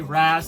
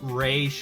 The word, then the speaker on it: Ra's al Ghul: And I prefer to say Raz, so don't be getting on my ass, comic book nerds, saying it's Raish, because quite frankly, Neil Adams and Denny O'Neil pronounced it either way, so I think either way is kind of correct, so yeah.